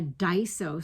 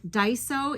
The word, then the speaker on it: Daiso: Now, we did find a Daiso store So, I don't know if you guys ever watch Kim the Crafty Nomad.